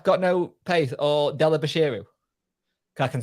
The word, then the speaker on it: Bashiru: stuff how do you say fizz's last name bashiru there you go well Delhi bashiru sorry I